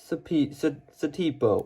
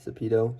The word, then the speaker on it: Satipo: minifigure we got is satipo well it's spelled satipo but it's actually sapito it's kind of weird but he has the